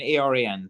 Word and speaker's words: Aran: Okay, it's Aran, Aran, like the Aran Islands.